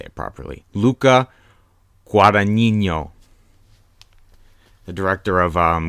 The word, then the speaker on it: Luca Guadagnino: try and my best to say it properly Luca Guadagnino the director of call me by her name